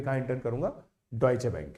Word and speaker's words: Deutsche: इसकी स्पेलिंग देखो, DEUTSCHE, तो मैं तो पहले इसको ड्यूटशे बैंक बोलता था, ड्यूटशे बैंक। इतना मस्त नाम था इसका, मैंने कहा ड्यूटशे नाम यार कुछ अजीब सा है, इसको पढ़ने में दिक्कत आती है।